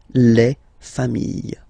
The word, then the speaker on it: familles: Famille, singular form, famille, plural form, same pronunciation, S, not pronounced.